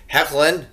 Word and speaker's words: Hoechlin: week of the show I thought that Tyler hoechlin is what I'm being told is the way to pronounce his name now was much better I